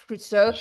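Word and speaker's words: Cousteau: Jack Kusto. That's it. Jack Friso. We grew up with Jack Cruso.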